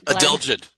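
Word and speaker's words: adelgid: He will pron he will how do you pronounce that? Adelid.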